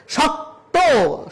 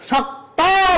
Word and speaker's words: শক্ত: শক্ত, শক্ত বলা যাবে না, বলতে হবে শক্ত, ওকার উচ্চারণ করতে হবে।